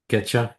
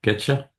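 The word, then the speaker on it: Keccak: How would how would you pronounce that? Ketcha. Ketcha.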